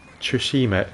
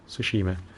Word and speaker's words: Tsushima: of games okay have you tried ghost of trishima shoot the car quantity sushima oh that's super pronounce it tsushima try saying that three times fast foreign you're